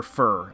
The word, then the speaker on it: Fir: really great stuff there's fear so we got two of the uh the gen one swords girls hannah and fear um or fur i should say because she did pronounce it fur no we're no we're